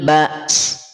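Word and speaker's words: بأس: Sin ketika waqaf tetap diucapkan, dilafalkan. Jadi tidak dibaca wahinal ba. Mana sinnya? Hinal ba. Ba's. Ba's. Dan kadar alirannya tidak boleh berlebih. Kadar alirannya natural, sealami mungkin.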